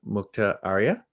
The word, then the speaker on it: Mukta Arya: We are joined today by Mukta Arya.